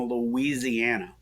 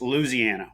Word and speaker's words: Louisiana: uh and we that's Louisiana we just dropped a whole syllable right and you uh you just take out the Wii the Louie Ziana and you got Louisiana and so that's uh